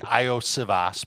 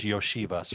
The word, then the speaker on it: Iosivas: Well, first of all, it's Yoshivas. I know it looks like Iosivas, but it's Yoshivas for.